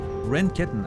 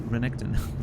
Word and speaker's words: Renketten: Renketten. I almost mispronounced that as Renekton.